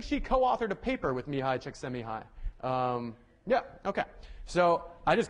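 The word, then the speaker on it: Mihaly Csikszentmihalyi: then this guy whose name I will now pronounce for you me hi chick semi-high yeah yeah that was not easy and actually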